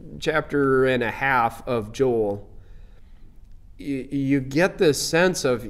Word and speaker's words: Joel: and his name is Joelle and he pronounces it Joelle even though we we think of it as Joel and and the more I think about it the Hebrew pronunciation is probably Joelle but anyway we've got